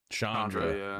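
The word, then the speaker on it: Chandra: So like new players like me because like I don't know I don't know Shandra. Is that how you pronounce her name? Shandra. Yeah. Yeah.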